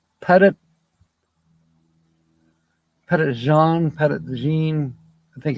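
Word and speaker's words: Petit Jean: up there in Arkansas pretty Jean I think you're talking about Pettit um it's not pronounced the way you wrote it it's uh it's a French spelling but it's a Native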